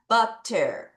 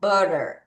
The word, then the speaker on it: butter: 그럼 얘는 두 가지 발음이 있는 거예요. T 발음을 살릴게요. 같이 따라해요. 준비 시작. butter. 자, T를 L처럼 발음할게요. 같이 따라해요. 준비 시작. butter. 자, 다시 두 가지 발음할게요. 자, everyone repeat after me. butter, butter. 그렇게 두 가지로 발음할 수 있습니다.